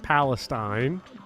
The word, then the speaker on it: Palestine: Palestine, Texas is pronounced Palestine.